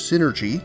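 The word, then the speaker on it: Psynergy: the ability to use synergy spelled with a silent p to control the elements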